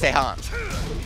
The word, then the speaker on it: Tejan: The J is silent. It's Tejan.